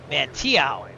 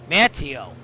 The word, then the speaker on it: Manteo: Let's see if I'm pronouncing that right because I sound like an idiot from the pronunciation. Let's see what it says. Mantio. Mantio. Yeah, that makes sense. Mantio.